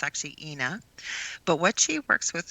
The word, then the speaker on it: Inna: say her name M ina but it's actually inna but what she works with this color and